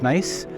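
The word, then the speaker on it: gneiss: like ganese g-n-e-i-s-s but it's pronounced nice so these are nice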